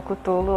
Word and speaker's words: Cthulhu: culto ou e gente curto é uma pronúncia que tem várias variações então você pode chamar o que você quiser eu falo cutolo acho que a maioria das pessoas fala mas enfim é quanto